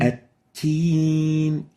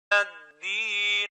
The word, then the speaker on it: الدين: الدين So you need to make sure not to mix the dal with the ta.